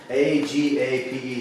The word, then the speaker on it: agape: The last word for love is agape. Oh. Agape. A-G-A-P-E. Looks like the English word agape, but it's pronounced agape in the Greek.